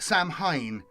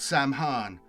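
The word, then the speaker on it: Samhain: And then it's got translators note, Sam Han is pronounced Sam Hine, uh, in brackets, not Sam Han.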